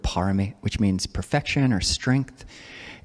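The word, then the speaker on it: pāramī: Yeah, so the Buddha's Barami, that's a Thai pronunciation of the word parami, which means perfection or strength.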